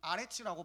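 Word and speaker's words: אֶרֶץ: 그리고 영어 단어로 랜드, 땅을요, 히브리어 단어로는 아레츠라고 발음을 합니다.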